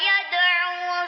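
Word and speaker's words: يَدْعُو: Fasawfa yad'u subura. Baik, ayat 11 ini yang perlu diperhatikan, yada'u ya, ainnya panjang satu ayunan.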